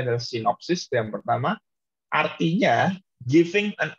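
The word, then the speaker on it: σύνοψις: Bacanya adalah sinopsis yang pertama.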